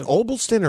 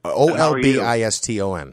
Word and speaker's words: Olbiston: Is it Obliston or Obliston?